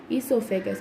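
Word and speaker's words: oesophagus: फिर ईसोफेगस, अभी आप देखोगे कि स्टार्टिंग लेटर तो ओ है लेकिन हम रीड कैसे करते हैं ईसोफेगस, क्योंकि वो साइलेंट है।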